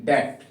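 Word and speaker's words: debt: जैसे स्पेलिंग है डी ई बी टी, डेट। क्या पढ़ोगे इसको? डेट।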